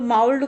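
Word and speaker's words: mould: माउल्ड इज not pronounce like कुड। अब same spelling यहाँ भी है, फर्स्ट लेटर का डिफरेंस है, तो माउल्ड को माउल्ड पढ़ा जाता है और ये कुड को कुड पढ़ा जाता है।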